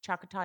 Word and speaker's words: Choctaw: You're from the you're and I'm gonna be bad at pronouncing, Choctaw Nation. Did I pronounce it right? Yeah, Choctaw Choctaw Nation of Oklahoma.